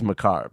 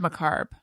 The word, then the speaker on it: macabre: so it's like anyway I think he said macarb I like to say it that way that's a fun way to say it Macabre sounds wrong it sounds like it sounds like you're talking about your salad if I say cob if